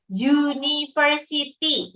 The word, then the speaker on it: university: Contohnya university, makanya bukan pakai an university, tapi pakainya a university, karena bacanya adalah konsonan.